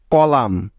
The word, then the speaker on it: column: এম এর পরে এন থাকলে ওই এনটা সাইলেন্ট বা উজ্জ্ব হয়ে যায়, অর্থাৎ তার কোনো সাউন্ড হবে না। যেমন ড্যাম, DAMN, ড্যাম। কলাম, COLUMN, কলাম।